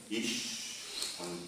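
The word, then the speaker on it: אִישׁ: La palabra que se utiliza para denombrar aquí el hombre, al hombre, ish, no sabría escribirlo en hebreo, ¿verdad? Pero se pronuncia así.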